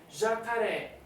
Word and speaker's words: jacaré: Jacaré, última sílaba mais forte, vai o acento porque é uma oxítona terminada em e.